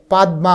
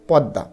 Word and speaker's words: পদ্মা: পাইনি এরপরে পদ্মা পেয়েছি এটা কিন্তু মানে পাদ্দমা হয় না ঠিক আছে এটার উচ্চারণ হচ্ছে পদ্মা এরপরে আলমগীর পেয়েছি হিস্ট্রি